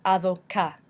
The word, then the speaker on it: avocat: For example, avocat, avocat means avocado. It also means lawyer, but you don't pronounce the T at the end.